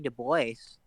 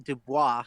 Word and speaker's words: Du Bois: Marky Du Bois. Well, Dubois. I always grew up saying Du Bois, but I think the correct way to say it is Dubois.